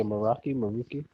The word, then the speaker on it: Meraki: It's I want to say Meraki. Yeah, Meraki. Like teriyaki?